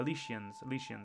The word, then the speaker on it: Elysians: They are referred to as Elysians, I think actually that is, or Elysians, there is, with a she.